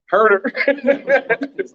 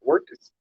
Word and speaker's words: Huertas: Herder. What? Don't you pronounce? I mean, it's spelled Huertas, Yeah. but it's not Wirtz. It's Herder. Is it Herder? Like Herder. Like I'm gonna hurt you.